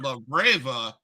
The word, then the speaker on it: Labrava: You gotta learn how to roll your R's.